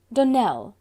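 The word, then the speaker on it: Donnell: Dunell, accent on the last syllable, and St.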